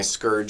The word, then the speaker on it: SCOURGE: In fact, I wore my SCOURGE shirt today, and Michael knows what SCOURGE is.